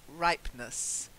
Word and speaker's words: ripeness: not ripen us just ripeness try it right what honest right this was perfect you sounded almost Italian Italians do that the right but but ripeness because the e is silent well done so I